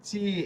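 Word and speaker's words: C: আ ওকে এরপর হচ্ছে বি এরপর চি দাতের ফাক দিয়ে বার হবে চি এটা সি না ইংরেজি ভাষায় কিন্তু সি আর এখানে হবে চি এরপর দি এটা কিন্তু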